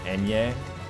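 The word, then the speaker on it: Ñ: Then if we have N and Nya, it's hard to explain how to pronounce the letter on its own, but something like Enye. Oh, Enye. Gotcha. With a nasal emphasis.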